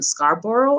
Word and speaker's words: Scarborough: to immigrant parents in montreal but raised in scarborough i think that's how you pronounce that and bram and brampton is it